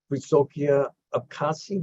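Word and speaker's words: Wysokie Obcasy: She is editor-in-chief of the newspaper's women's supplement, Wysokie Abkhazia. Is that how you pronounce it?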